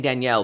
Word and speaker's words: Daniel: Daniel. I keep saying Danielle because that's how he pronounces it. Oh, is that what he said, Danielle? Oh, yeah, okay, that's how you would pronounce it in Spanish.